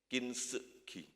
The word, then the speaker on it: Kintsugi: Cara bacanya apa Om Bilus? Kintsugi.